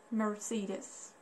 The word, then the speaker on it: Mercedes: do you pronounce it in English so it's pronounced like Mercedes Mercedes so I know most of you can